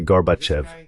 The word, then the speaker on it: Gorbachev: Bush le vice-président disaient Ray ce type comment prononce-ton son nom ? Gorbachev. Je disais Gorbachev.